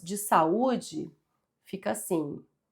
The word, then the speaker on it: saúde: Então, quando a gente separa as sílabas de saúde fica assim. S, u, d. Então, é uma palavra acentuada porque esse U é tônico, ou seja, forte e ele forma iato com a vogal da sílaba anterior.